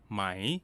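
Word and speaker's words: ไหม: the last vocabulary word this is the more common pronunciation of the question particle my my in regular conversation when spoken quickly the rising tone changes to a high tone its use is very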